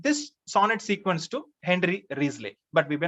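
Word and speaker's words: Wriothesley: riesling pronunciation is uh risley it is pronounced risley spelling w-r-i-o-t-h-e-s-l-e risley then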